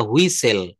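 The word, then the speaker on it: whistle: কিন্তু যখন when the guard blew the হুই সেল। টি এখানে সাইলেন্ট লেটার।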